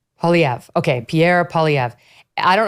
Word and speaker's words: Poilievre: What's his how do you pronounce the last name? Poilievre. Poilievre.